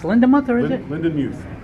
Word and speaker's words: Lindenmuth: Lindenmuth. Lindenmuth. I can't pronounce names as Todd or Tom, as you